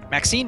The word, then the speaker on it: Maxine: exquisite varieties the iand is Maxine rhymes with Queen after all and dearest